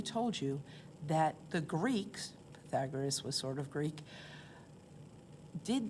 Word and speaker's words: Pythagoras: differently because this person, Pythagoras, lived 2,500 years ago. So nobody really knows exactly how to say his name. I'm going with Pythagoras. Some people say Pythagoras because of the Y.